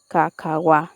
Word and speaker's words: kakaw: the syllable "wa", thus all the sounds together are pronounced as "ka-ka-wa" for "kakaw", or chocolate.